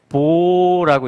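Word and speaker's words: בוא: 그게 뭐냐면 베트와 알렙이에요. 그래서 이걸 뭐라고 하냐면 보라고 읽고요.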